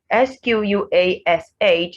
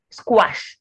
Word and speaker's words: squash: you have to so s-q-u-a-s-h is not squash it's squash s-q-u-a-a s-q-u-a-t and s-q-u-a-n-d